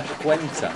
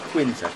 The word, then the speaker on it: cuenta: It's la cuenta, not quinta. Cuenta.